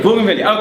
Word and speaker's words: Bougainvillea: However, is it Bougainvillea? Is that how you say it? Yeah. Bougainvillea.